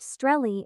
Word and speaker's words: Australia: The name Australia, pronounced Streli in Australian English, is derived from the